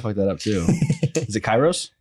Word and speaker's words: Kairos: so i'll probably that up too is it kairos kairos yeah yeah yeah you're probably the first one to get how we at least pronounce it yeah so what is what is